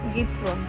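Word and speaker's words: Giethoorn: Hello, আমরা আজকে যাচ্ছি গাইথ্রন, মানে আমার উচ্চারণে গাইথ্রন, আমি জানি না ডাচরা এটা কি উচ্চারণ করে, কি আসলে উচ্চারণ অন্তরা? গিথরন।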